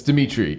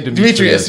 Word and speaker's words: Dimitri: it Dimitri or Demetrius it's Dimitri Dimitri right always say Demetrius right right which I